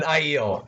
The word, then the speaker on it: Aiel: Yeah, he mentions Rand looks like an ale man. Oh, what? An Aiel, not ale. Forget I ever said that. That's a wrong pronunciation.